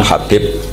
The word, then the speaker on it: Habib: yang nulis Abi Abdurrahman Habib assulami itu di harakatnya kitab itu ada yang nulis KH yang benar Oh gigih yang benar itu bacanya habib habib itu assulami itu ikut